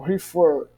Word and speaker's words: refer: por exemplo no verbo refer refer a pronúncia do F é mais forte que o re refer e agora outro